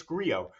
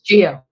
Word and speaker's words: Gio: Now, Gio, this is a big one. This is for all the bucks. Wait, I'm sorry. I forgot your name isn't Gio. It's Grio. Grio. No, it's Gio.